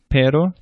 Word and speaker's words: pero: R is like an English D, but it's softer than an English D in many cases. So the muddy or eddy, the D in the middle of muddy or eddy, is what a Spanish R sounds like. For example, para, cura, pero.